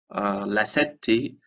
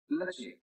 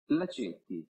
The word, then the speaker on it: Lacetti: And Lassetti, as we pronounce it in a daily use, is pronounced in Italian. Lacetti. Lacetti.